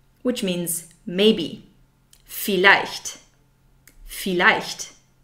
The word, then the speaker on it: vielleicht: Vielleicht, which means maybe. Vielleicht. Vielleicht. The German V is pronounced like the English F. Vielleicht. So it's not vielleicht, that's wrong. It's vielleicht.